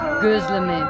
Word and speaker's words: gözleme: Is gözleme. My pronunciation is good? Say it again. Gözleme. Not with O, with Ö.